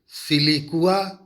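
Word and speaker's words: siliqua: Fruit इसमें सिलिकुआ या सिलिकुला, देखिए यहाँ पे थोड़ी स्पेलिंग में गलती है, तो आप गौर से सुने मैं क्या बोल रहा हूँ, सिलिकुआ एंड सिलिकुला।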